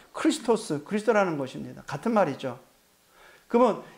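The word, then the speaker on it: Χριστός: 가진 단어가 메시아입니다 히브리어로 히브리바른 발음으로 근데 헬라어 발음으로는요 크리스토스 그리스도라는 것입니다 같은 말이죠 그러면 예수를 만났는데 예수가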